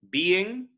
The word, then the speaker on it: being: Being here elides to one syllable.